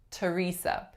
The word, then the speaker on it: Teresa: So some examples that come to mind: Thomas and Teresa, the names. Thomas, Teresa. We do not say Thomas, Theresa, even though usually that's how those names are spelled.